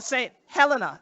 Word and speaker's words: Saint Helena: So unto this moment, our place is called Saint Helena, or Saint Helena is how we pronounce it.